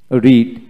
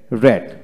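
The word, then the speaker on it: read: তিনটা ফর্ম একই রকম রিড রেড রেড যেহেতু স্পেলিং এক কিন্তু পাস্ট ফর্মে রেড পাস্ট পার্টিসিপল ফর্মে রেড উচ্চারিত হবে তারপর হচ্ছে লাভ লাভড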